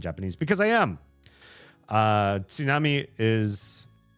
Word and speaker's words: tsunami: So, if you can't say tsunami, you can at least say tsunami without the t.